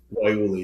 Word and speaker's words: guayule: Yeah, you butchered that word. It's I Waiuli. what is it? Guayule? Waiuli, yeah. It's a tough Guayule. one. Yeah. Well, it's spelled Um, guayule. I was hooked on it phonics as a is. kid. The E is just long at the Oh, end.